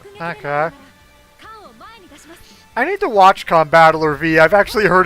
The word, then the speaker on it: Combattler V: Combattler 5. Yes. Well, actually, it is actually pronounced Combattler V.